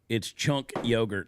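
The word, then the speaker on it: Cenk Uygur: Scrappy said it's Chunk Yogurt. That's how you say his name, Chunk Yogurt.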